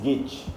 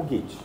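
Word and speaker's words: Goethe: ter ouvido falar né a gente diz get né mas pronuncia mais ou menos assim como se fosse o get né G né enfim não sou alemão mas é o gate que você já devem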